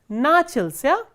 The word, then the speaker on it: начался: The next sentence, Sivodnya urok начался. So, here stress is on a, the first a, начался в 10 часов.